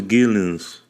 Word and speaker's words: Geelens: his name is Thomas Gillings I'm saying it right right yeah you're saying